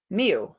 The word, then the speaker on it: mu: It's pronounced mu.